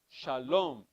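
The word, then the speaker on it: שלום: word like tomorrow yesterday in the sephardic and an enunciation the accent is at the end of the word shalom it's at the end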